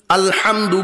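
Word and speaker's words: الحمد: আলহামদু গলার ভিতর থেকে উচ্চারণ হা।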